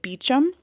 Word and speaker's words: Beauchamp: Beauchamp, which he pronounced Beauchamp, but Rupert, who is our party boy / kind of a suspect in this murder, his last name is also Beauchamp, but he pronounces it Beecham.